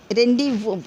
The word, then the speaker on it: rendezvous: रेंडीवू, देखिए प्रोनाउंसिएशन कैसा है, यहाँ पर लिखा हुआ है RENDEZVOUS है, लेकिन इसको सिर्फ पढ़ते हैं हम रेंडीवू। यहाँ पे जी और एस को साइलेंट कर दिए, ना जी पढ़ रहे हैं हम, रेंडेज नहीं पढ़, रेंडीवू, VOU पढ़ रहे हैं खाली, यहाँ पर एस भी छोड़ दिए।